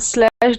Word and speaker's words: slashed: So, with that uh with that uh ed, we need to add a t there.